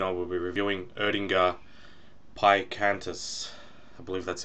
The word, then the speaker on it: Pikantus: reviews this afternoon I will be reviewing erdinger pie cantus I believe that's how you pronounce it so it's from the odinga brewery